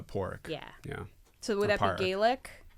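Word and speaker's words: Pádraic: is short for Patrick because Patrick in Irish is spelled with a d what is it p a d r a i c Irish it's uh poric yeah so would that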